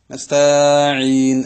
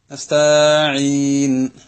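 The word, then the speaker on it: نستعين: നസ്തഈൻ എന്ന് നമ്മളെ വക താഇനൊന്ന് നീട്ടുക. നമ്മൾ മനസ്സിലാക്കണം, ഹറക്കത്തുകൾക്ക് നിശ്ചിതമായ ടൈമുണ്ട്. അതിനേക്കാൾ കൂടിക്കഴിഞ്ഞാൽ മദ്ദക്ഷരം ഉണ്ടാവും.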